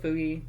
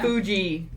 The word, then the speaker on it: Fuji: Fuji. I will never pronounce it correctly. I'm sorry. no, I'm always gonna call him Fugi.